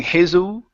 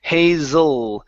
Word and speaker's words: hazel: Instead of saying Hazel with an oo sound, it's Hazel. Hazel. Big hazel eyes. Big hazel eyes. Okay? So what you're doing is you are pronouncing an oo. Okay, at the very end of the word instead of pronouncing an L.